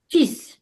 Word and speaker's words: fils: And here there is exception. L, we don't pronounce. Fils, fils. Donc, we write fils, fils with L, but we pronounce fils.